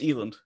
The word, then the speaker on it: Eland: I'm butchering it a night it's fine it's eland Eiland that's the way different than I said got